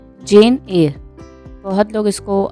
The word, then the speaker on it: Eyre: आज हम लोग देखने वाले हैं जेन एयर। बहुत लोग इसको आयर बोलते हैं, बहुत लोग इसको एयर बोलते हैं, बहुत जगह प्रोनाउंसिएशन इसका ए है, आर साइलेंट है, तो अपने हिसाब से एडजस्ट कर लो।